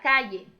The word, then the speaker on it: calle: Esse LL, meninos, ele tem um som muito particular, tá? Você pode pronunciá-lo como se fosse um ye, ye, mas também pode ser como se fosse um LH. Talvez fique mais fácil para vocês.